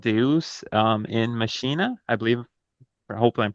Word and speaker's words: Deus in Machina: They recently unveiled an experimental AI-powered confessional called Deus in Machina, I believe. Hopefully, I'm pronouncing that correct. It's a Feature Deus Machina. Oh, it's Deus in Machina. Okay. Uh, Machina. okay. Yeah. Well, I'll let you pronounce that part.